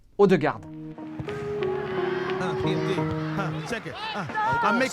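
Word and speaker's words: Ødegaard: Alors on a bien dit Odegaard et pas Odegaard.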